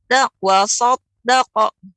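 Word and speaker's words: وصدق: Jadi untuk pengucapan kalau dia wasad, nah ini hanya tapi tidak ditebalkan. Tapi kalau tebal waso. Iya. Terkumpulnya suara, naiknya suara ke langit-langit. Akan tapi lidah bibir kita ya jangan sampai monyong.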